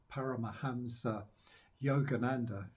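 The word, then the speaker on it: Paramahansa Yogananda: who wrote um the autobiographer the yogi um para mahamsa Yogananda that's how you pronounce it a bit of a tongue twister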